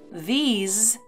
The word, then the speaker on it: these: These is pronounced with a z sound at the end, these.